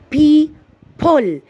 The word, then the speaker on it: people: هاي الكلمة اعتبرها كلمة عوجة، الأو بدها تلفظ بعد البي، اللفظة بعد البي وانكتبت قبل البي، فالآن هاي الكلمة غريبة باللفظ. people.